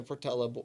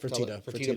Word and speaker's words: Fertitta: a lot of money, kind of like the Fertella, or how you say it? Fertitta brothers, you know.